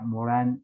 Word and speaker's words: Morin: acá y por acá lo que se escribe morir pero se pronuncia morán en en francés no es el señor